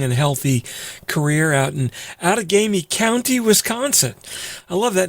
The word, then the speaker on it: Outagamie: for a long and healthy career out in out of gamey county wisconsin i love that name out of gamey yo well you got the pronunciation right which is better than most what